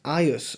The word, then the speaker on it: agus: I've heard some of the audio pronounce agus, the word for and, as aius on some occasion, and it's great to